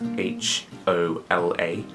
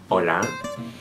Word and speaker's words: hola: Uh, in Spanish it's hola and uh it's spelled H O L A and H in Spanish it's a silent sound so you don't um